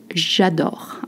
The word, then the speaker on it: j'adore: And remember, je becomes j apostrophe in front of a verb starting with a vowel. You pronounce as one sound, such as j'adore.